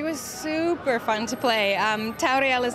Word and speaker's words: Tauriel: It's Tauriel. Tauriel.